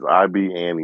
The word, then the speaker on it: Ibn: Yeah, that nigga Playa Fly real name is IBN Young. I don't know how to say it. Ibn Young? Oh, Ibn. It means son of. That's Arabic. Oh, okay.